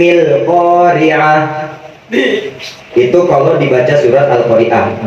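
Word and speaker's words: القارعة: Nah, itu dibacanya jangan Bismillahirrahmanirrahim Al-Qari'ah. Jangan. Karena hamzah di sini bukan hamzah yang hidup, akan tetapi hamzahnya di sini hamzah wasol. Dan Al-Qari'ah ini merupakan isim. Jadi harus disambung. Bismillahirrahmanirrahim Al-Qari'ah.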